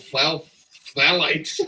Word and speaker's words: phthalate: Pete, let me spell it for you. P. PTH. H. Phthalate. H-A-L-A-T-E. Phthalate. It's just going to be phthalate.